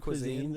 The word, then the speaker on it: cuisine: No, it says cuisine.